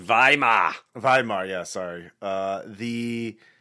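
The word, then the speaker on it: Weimar: Uh so yeah, the the the Yeah, the the Vimeir Republic period. Not not not 10 years later. I believe it's pronounced Vhimar.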